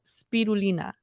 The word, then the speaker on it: spirulina: It's blue spirulina.